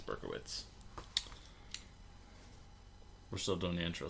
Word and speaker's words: Berkowitz: directed by Dan River technically it could be pronounced berkovitz but I don't think it's berkovitz I think it's Berkowitz we're still doing the